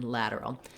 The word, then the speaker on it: lateral: It sounds a little bit more like a D.